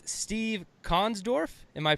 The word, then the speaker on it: Konsdorf: up Joe hey happy Friday and it's Steve Kahn's Dorf am i pronouncing that right yeah hey I nailed it